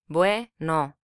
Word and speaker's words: Bueno: The Spanish for good is Bueno. Bueno. Here a weak vowel combines with a strong vowel to make a single syllable.